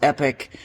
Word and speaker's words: Epoch: here it is an epic it's actually it's kind of spelled Epoch but my understanding is it's pronounced epic uh for of the